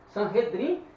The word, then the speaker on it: Sanhedrin: Sanhedrin, pronuncia-se Sanhedrin, Assembleia Sentada.